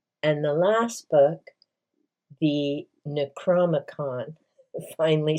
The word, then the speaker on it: Necronomicon: And the last book, the Necronomicon, finally said it right.